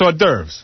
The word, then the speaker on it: hors d'oeuvres: That's hors d'oeuvres.